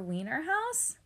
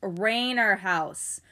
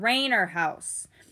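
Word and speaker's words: Rainerhouse: the teacher boomed mr weiner house all the kids were snickering especially st james it's rainer house my name is mr raynor house it's pronounced rain er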